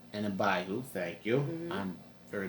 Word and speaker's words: Abihu: Nadab and Abihu, thank you. Mm-hmm. I'm very bad with pronouncing Tag team.